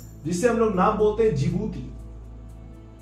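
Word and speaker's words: Djibouti: हम लोग नाम बोलते जिबूती देखिए नाम स्टार्ट हो रहा डी से लेकिन डी साइलेंट है या डी जिबूती मत बोलिएगा जिबूती बोलिएगा जिबूती डी साइलेंट ओके य पर कंट्री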